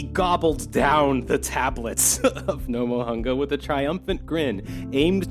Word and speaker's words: Nomohunga: This is spelled rather NOMOHUNGA. That would be Nomohunga.